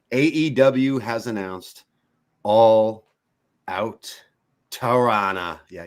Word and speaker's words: Toronto: has announced All Out Toronto. Yeah, you don't pronounce the last T there. There's a little insiders tip for you. All Out Toronto coming soon.